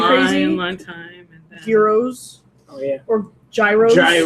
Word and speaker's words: gyros: long time, and then Gyros Oh yeah. or gyros. They're Gyros. euros.